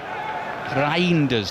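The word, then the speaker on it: Reijnders: It's a tricky one cuz he sort of says Rinders, doesn't he properly uh in Dutch, so I'm I can't do it quite as authentically as that.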